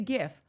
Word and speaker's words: GIF: I say GIF. But the inventor of it said it's GIF.